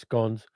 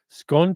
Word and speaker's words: scone: anyone, but it's pronounced scones." I agree with you. I will go with the Welsh pronunciation, Lee. Absolutely. Scone to rhyme with gone or scone to rhyme with home. Scone.